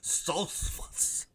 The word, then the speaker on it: Stoltzfus: How about Kelvin Gastelum back up at middleweight in there against Dustin Stoltzfus?